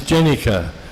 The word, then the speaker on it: Jenica: I told him what we had named him and Prabhupada said to me, no, his name is Jenica, you're mispronouncing it.